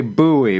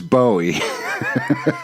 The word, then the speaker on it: Bowie: They say Bowie, but the rest of the world says Bowie. All right, so when you listen to David Bowie, are they listening to David Bowie over there?